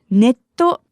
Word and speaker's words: ネット: The first word, ネット, is the Japanese pronunciation of the word net or internet.